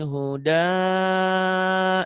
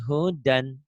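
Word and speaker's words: هدى: Kalau dihentikan panjang nih. La raiba fihi huda. Itu ya, kalau baca Quran begitu. Tapi ini lagi baca Iqra, lagi dibaca apa adanya pendek. La raiba fihi hudan.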